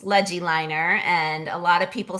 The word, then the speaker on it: LegiLiner: But I combine the word legibility, so writing legibly with drawing a line. So LegiLiner, that's how I came up with it. Where can people find LegiLiner and connect with you if they want to learn more?